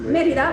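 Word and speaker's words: Mérida: I just finished playing in Merida. Is that how to pronounce it? Merida, but we know what you mean.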